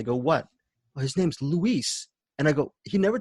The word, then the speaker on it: Luis: You've been really pronouncing Luis's name wrong, and you've known him for several years." I go, "What?" "Well, his name's Luis."